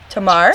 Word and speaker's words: Tamar: Well, this is Tamar. Did I say your name? Pretty good. How did I say that? How do you say it? Tamar?